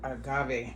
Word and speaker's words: agave: The agave, that's how you pronounce it.